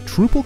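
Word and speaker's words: Troupple: never heard of the trupal king half trout and half Trel the trle king half trout and half Apple pronounced like mouthful he's one of the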